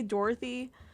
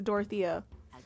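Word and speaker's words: Dorothea: I want to say I want to say Dorothy but I know that's not the name it's dorothia she's actually a high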